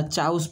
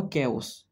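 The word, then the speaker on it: chaos: वार्डटा मुझे लक्ष्य कर बहुत पिला चाउस पढ़ दिए कौन कर दिखते ओडिया पिला जेहतु चाउस एटा प्रकृत प्रोनाउंसिएशन तुम केओस ठीक अच्छे केओस केओस माने कौन ना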